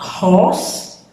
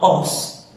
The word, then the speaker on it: horse: You can hear how I pronounce my H. Horse. Okay, with an aspiration. Sentite come pronuncio la mia H con l'aspirazione. Horse. A horse. Not os. Not os. Horse.